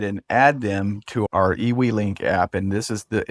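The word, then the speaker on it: eWeLink: So, we're now ready to go ahead and add them to our EW link app. And this is the it's spelled EWE L I N K.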